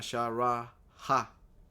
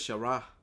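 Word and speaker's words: שרה: Tiene una Shara, ha, ok. Pero normalmente en el hebreo la ha no se pronuncia explícitamente. En algunos, uh, en unas ocasiones sí. Este es Shara, no es Sharaha, es Shara, ok.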